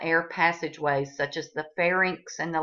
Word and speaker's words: pharynx: um commonly mispronounced words most people will say fairnicks and larnix well don't be one of those people because you don't have them you have a pharynx and a larynx all right so the